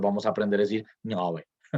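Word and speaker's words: Ngöbe: Toda la gente que habla español pronuncia así, con la nasal velar con la vocal esa, la O abierta.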